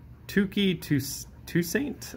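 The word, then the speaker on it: Touki Toussaint: Start out with Ryan Braun, Brandon Nimmo, Yuli Gurriel, Sean Murphy, DJ LeMahieu, Tukey Toussaint, I believe is how that's pronounced, Antonio Senzatella, and then game number 6,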